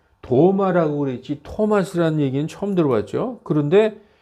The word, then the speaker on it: 토마스: 근데 이제 우리가 일본 시대 때 영향을 받은 사람들이 성경을 번역하다 보니까 T자를 전부 D자로 발음했어요.